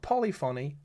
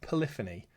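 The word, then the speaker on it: Polyphony: Not Polyon, Polifany, Polyon, Polyon.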